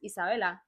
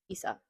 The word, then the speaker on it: Issa: But like personally, like me like my name is my nickname is Issa because of the way it's pronounced in Spanish. It's Isa. So obvious that is my name. It's Isa. Isa.